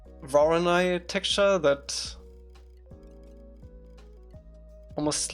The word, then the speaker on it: Voronoi: Some people pronounce Voronoi like Vor-on-I instead of Voronoi.